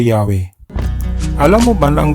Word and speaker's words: Yahweh: ng patinig o vowel kaya ang YH w h pagkatapos ng y nilagyan nila ito ng letter a pagkatapos naman ng w nilagyan nila ito ng letter e ngayon kaya mo n bigkasin ' ba syempre yahwe ganun din sa GH